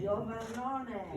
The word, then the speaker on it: Iovannone: is, and you have to help me pronounce the last name. Iovannone.